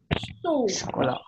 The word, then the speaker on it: chaud: Le chocolat chaud.